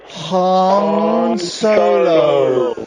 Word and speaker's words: Han Solo: Han Solo solo Jerry say it with us Han Solo Sam say it with us come on Han